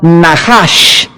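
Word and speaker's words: נחש: Veamos rápidamente esta misma palabra para entender el contexto en el libro de Levítico, capítulo 19, es la palabra Nahash, se escribe Nachash.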